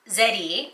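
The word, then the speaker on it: ゼリー: We have a peach jelly, or zeri as they pronounce it in Japan.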